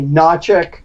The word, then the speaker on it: Hnatiuk: okay Randy I mean the way most people pronounce my last name the HS silent may say najuk it's ukrainian the correct